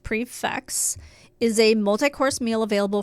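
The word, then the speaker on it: prix fixe: know I like it simply put a prefix menu pronounced prefix is a multi-course meal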